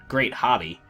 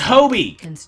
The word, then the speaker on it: Hobie: It's Hobie, jerks. Hobie with the long O sound. Admittedly, that's probably not how it looks from the spelling, and that's okay.